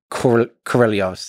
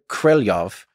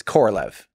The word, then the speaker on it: Korolev: how to pronounce Sergei Korolev's name. And I'm still going to say it wrong no matter what. My understanding, yes, and from listening to native speakers, is closer to Korolev than it is Korolev.